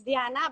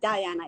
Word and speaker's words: Diana: So my name is, it's in Spanish, so it's Diana, but I'm very used to having it say that Diana is fine.